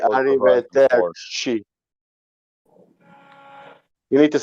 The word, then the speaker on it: arrivederci: Non si dice arrivederci, si dice arrivederci, devi dire così proprio veloce, capito?